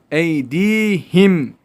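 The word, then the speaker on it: أيديهم: önünde bir elif miktarı çekiyoruz en iyi değilim eydihim derken Mim görüyorsunuz bakın şurada açıktan telaffuz ediyoruz izlemiyoruz izharı şefevi yemin açıktan okunuş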